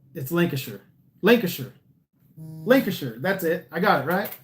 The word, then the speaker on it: Lancashire: Yeah, Bog-Eyed Cumbrian said, sure, Shire is pronounced sure. Yeah, so it's Lancashire.